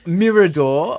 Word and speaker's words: Mirador: for the uninitiated um Mirador obviously wealth that that is the correct pronunciation um and M uh